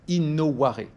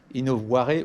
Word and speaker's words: innovare: In, comme on le dit en anglais, c'est à l'intérieur, la première partie, innovare, d'accord? I-N-O-V-A-R-E. Innovare ou innovare si vous prononcez le R, mais innovare, c'est donc la première partie, in à l'intérieur, novare, le changement.